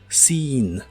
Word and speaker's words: seen: La doble E se pronuncia como una I larga. Seen, seen.